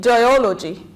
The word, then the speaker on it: geology: two number three so we put the stress here we stress onology geology so D see the